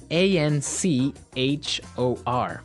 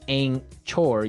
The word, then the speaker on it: anchor: Now, it's spelled a n c h o r, right? But you don't pronounce the ch as you normally would, right?